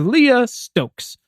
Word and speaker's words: Leah Stokes: let's do it our guest today is Dr Leah Stokes that's how you pronounce it and together we're asking uh folks